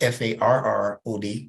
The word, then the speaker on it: Fard: He said his name was Farrod, Farad, the way he pronounced it.